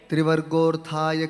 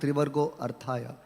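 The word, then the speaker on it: trivargo 'rthāya: Klishyamaneshu Trivargaha Arthaya Kalpate Trivargorthaya Kalpate. No, that A is silent. Therefore there is an apostrophe. It is not Trivargo Arthaya.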